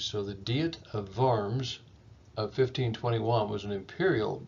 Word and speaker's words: Worms: looks like worms but in german the ws are pronounced vs so the diet of varms of 1521 was an